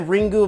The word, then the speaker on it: Ringu: features, they basically yeah, it's the proper way to say it is Ring. So that's how I call these movies, the Ring franchise. So, but then again, calling it Ringu, making calling it the